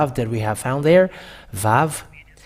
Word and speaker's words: vav: we have found there VAV and the sound the pronunciation of it is V it is you're bigger